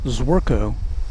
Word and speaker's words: Zworko: And my name is my last name is very mispronouncable. It's Zworko.